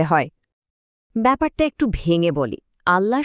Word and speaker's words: আল্লাহ: আল্লাহ শব্দটার অক্ষরগুলো খেয়াল করুন। আলিফ, লাম, লাম আর হা। এই প্রত্যেকটা বর্ণই হলো কন্ঠ বর্ণ। মানে এগুলো গলার ভেতর থেকে উচ্চারিত হয়। এখানে ঠোঁটের সাহায্যে উচ্চারণ করতে হয় এমন কোন বর্ণ যেমন ধরুন ব, ম বা ফ নেই।